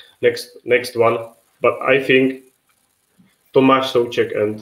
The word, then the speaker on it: Tomáš Souček: So it's Vladimír Coufal and Tomáš Souček.